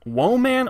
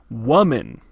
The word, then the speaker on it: woman: woman and you're like okay is it whoa man or huaman right cuz those are the only two pronunciations actually it's more like woman like what are you